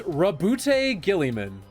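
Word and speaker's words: Roboute Guilliman: pronouncing his name wrong according to the lexicanum it's uh robot robote giliman it's rabute giliman it's Robert Gilman Robert Gilman yeah a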